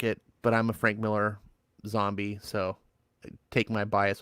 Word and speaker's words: Millar: man you know Mark Mark millar's actually Mark Miller but he pronounces it Miller that's the one I was